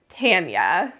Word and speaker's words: Tanya: case in the comments i am saying her name right i asked her how to say it and she told me it was tanya i know i get